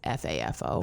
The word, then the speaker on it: FAFO: And so, you know, but I've actually seen it now phonetically spelled out, you know, cuz people will say it's f afo.